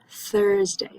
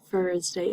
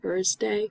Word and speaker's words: Thursday: for the word Thursday Thursday make sure you're pronouncing the th irsty stick that tongue out uh it's not Thursday it's not Thursday it is Thursday um